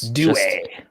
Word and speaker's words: Due: And if you are a USL broadcaster, that is how you pronounce his last name. It's Due. Due.